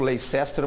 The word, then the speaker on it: Leicester: clube inglês e eh tá escrito Lecester, mas se escreve Leicester City, se diz Leicester City, o Anderson Perry, grandes pessoas.